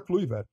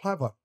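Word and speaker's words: Kluivert: o Patrick clier né todo mundo falou a vida inteira cluer sim ele uma vez numa entrevista aquele jogo Brasil Holanda na copa de 98 os maior de todos os tempos ele falou é Patrick cla e para você falar assim que é o correto todo mundo é Patri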